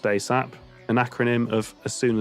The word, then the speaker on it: ASAP: ASAP, pronounced ASAP, an acronym of as soon as possible.